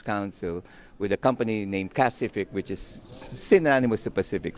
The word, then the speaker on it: Kacific: Did I pronounce that correct? Kacific. KA, I think is key there.